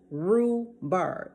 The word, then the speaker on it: rhubarb: okay that's turkey rhubarb rue bird the h is silent r-h-u-b-a-r-d turkey rhubarb the